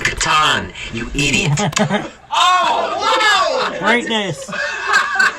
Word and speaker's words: Catan: It's pronounced Catan, you idiot.